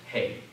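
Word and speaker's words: ἡ: nominative um definite article and it's pronounced hey you would memorize that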